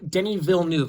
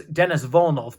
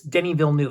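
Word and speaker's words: Denis Villeneuve: Denny Ville new yes I finally pronounced his name correctly and when I showed the last when I showed the first dune I uh I said that um I I acally mispronounced his name as Dennis volov but it's Denny Ville new so I apologize for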